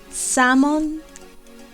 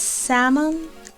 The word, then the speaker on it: salmon: Pero si se quiere decir que es color salmón, se dice it's salmon color. It's salmon color. La palabra salmón se escribe salmon, pero la L no suena. Entonces se dice it's salmon color.